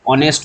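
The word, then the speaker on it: honest: তখন এন বসাতাম কেন না এইচ এর কি প্রোনাউন্স হচ্ছে দেখো অ হচ্ছে অনেস্ট বলছি অ হচ্ছে কি ভাওয়েল সাউন্ড তাহলে সাউন্ডের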